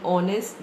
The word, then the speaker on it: honest: Then in honest, the H is silent.